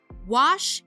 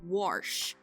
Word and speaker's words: wash: and create alliances duh wash isn't pronounced warsh the capital of the